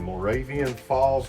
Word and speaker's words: Moravian Falls: 1845 hose Road and it's actually located in Moravian Falls North Carolina did I pronounce that right you did you did so